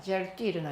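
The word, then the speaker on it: Sertürner: 유에다가 점을 2개 찍는 거죠. 그래가지고 위 발음을 해야 돼. 젤 띠르너 이렇게 발음해야 됩니다. 젤 띠르너라는 사람이 이제 몰핀을 맨 처음에 발견하게 됐다 이렇게 되고요.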